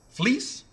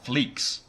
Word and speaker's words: Fleecs: How do you say your last name? Because I think I'm saying Fleece. Fleece. Yeah, like wool. Fleece like wool. I've been calling it Fleecs. A lot of people do. The C is silent.